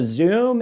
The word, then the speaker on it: Xoom: So Zoom, in my opinion, which is XOOM, it's spelled out right here in case you want